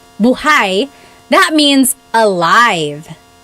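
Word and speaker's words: buhay: If you say buhai, the emphasis is on the second syllable. Buhai.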